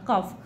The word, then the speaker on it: calf: দেখো, এ cow gives birth to আ কাফ, একটা গরু সে একটা বাছুরকে জন্ম দেয়, CALF কাফ, ঠিক আছে, এল উচ্চারণ না, কাফ।